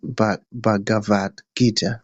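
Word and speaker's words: Bhagavad Gita: Talking about Bavad Gita. I'm not sure if I pronounced that correctly. You pronounced it correctly.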